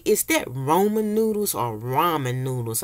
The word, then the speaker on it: ramen: They say, is that Roman noodles or ramen noodles? I'm like, it's just the way I pronounce it. I say Roman.